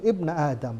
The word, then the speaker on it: Ibna Adam: di sini munada, ya, di mana harusnya ya Ibna Adam, tapi ya-nya dihilangin, bacanya langsung Ibna Adam, wahai anak Adam.